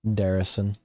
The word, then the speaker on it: Darrison: Darrison. I just nod. Thanks. And I walk in. Your name rhymes with like Saracen.